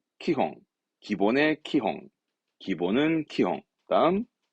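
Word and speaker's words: 基本: 기본의 기자구요 참 많이 보여준 단어죠 그렇습니다 기본입니다 발음은 키홍 기본의 키홍 기본은 키용 다음 요즘 어렵죠 초짜입니다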